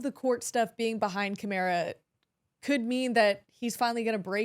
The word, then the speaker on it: Kamara: See, I learned how to say his name because like Mark Ingram put out a video and he's like Kamara. I was like, all right, well that's it. Like that's how I'm saying it.